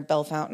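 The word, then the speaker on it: Bellefontaine: Um like where I'm at, we call it Logan County near Bell Fountain, Ohio, which there's a Bell Fountain, Indiana, but you guys call it Bellafonte. Bella Fontaine.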